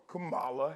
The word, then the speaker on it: Kamala: he feels like a fool for voting for Camala Harris I said it right right comma KLA Harris comma Harris Miss Harris again Miss Harris